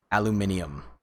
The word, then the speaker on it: aluminium: loves the way that apparently the brits say aluminium even though it's the exact same word you guys add in an extra letter aluminium yeah it's aluminum